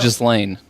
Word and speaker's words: Ghislaine: Ghislaine. That's what it says here. But I know it's Giselle. Ghislaine.